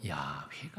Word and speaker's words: 야훼: 그래서 하나님의 이름 야훼라고 하는 이름을 아도나이라고 하는 모음점을 찍어서, 그래서 아도나이라고 하나님의 이름 함부로 부르지 않고 아도나이로 부르다가 보니까 어떻게 부르는지 잊어먹었습니다. 그래서 그것을 아도나이라고 하는 모음점에다가 자음을 붙여서 읽으니까 그게 바로 여호와라고 읽힌 겁니다. 하지만 그건 아닌 것 같다. 본래 이름은 다른 거다.